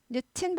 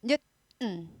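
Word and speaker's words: Newton: 뉴턴인데요. 뉴튼 발음 잘 안 하죠. 미국 영어에서는 잘 안 하고 뉴턴 해서 어떻게 돼요? 스타카토 딱 찍죠. 뉴턴. 스타카토 딱 찍으면서 은이 아니라 한다 그랬어요.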